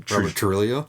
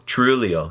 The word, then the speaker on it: Trujillo: Trillio. Trulio. Yes. I almost want to say Trujillo, but I you got to think uh Spanish. So, the J the rolling Yeah.